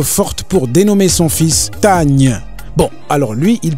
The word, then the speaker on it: Tagne: À entendre les Marocains, si vous ne prêtez pas attention, vous pouvez penser que c'est Kanye, comme Kanye West, parce qu'il dit Tanye.